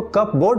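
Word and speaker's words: cupboard: pronunciation अगला शब्द है कपबोर्ड लिखने हैं उसको कब बोर्ड पढ़ने हैं जीआईएफ जो आज हम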